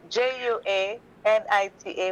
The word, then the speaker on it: Juanita: bonnie head juanita it's not a w it's j it's a spanish name people love to tell me how to pronounce my own name in spanish j-u-a-n-i-t-a like anita but ju at the beginning juanita google me